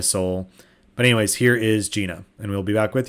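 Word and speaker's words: Njena: gift from omnia soul but anyways here is gina and we'll be back with you after the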